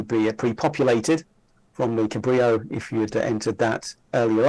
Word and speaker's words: Cabrillo: Cabrillo format which is pronounced Cabrillo because it's uh from the Iberian Explorer it looks like this